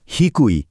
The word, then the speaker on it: 低: প্রথম কাঞ্জিটা দেখুন তো, এর উচ্চারণ হিকুই।